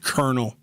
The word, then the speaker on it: colonel: I think the word silhouette is used in one of the little written passages the word colonel. Colonel like a military rank colonel which is not spelled with a K.